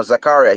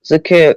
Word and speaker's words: Zakaria: He's a good CDM Rice, but you can go for someone like Zakir. Oh, I think I said his name wrong again, and I from Zakaria.